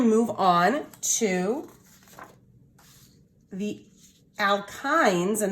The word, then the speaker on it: alkyne: move on to the alkynes and that's how you say it alkyne all right and and